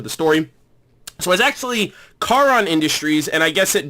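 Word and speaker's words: Charon: for the first time not knowing that the H is silent that's how I basically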